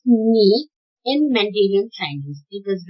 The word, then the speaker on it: 你: You is pronounced 你 in Mandarin Chinese.